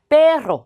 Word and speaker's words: perro: 그래서 perro 이렇게 강세를 넣어서 발음하면 되죠.